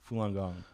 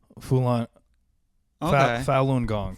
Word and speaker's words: Falun Gong: How do you pronounce it? Falun Gong. Falun Gong.